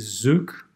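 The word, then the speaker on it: Xook: moment as well is zook which is spelled x double ok and that's a project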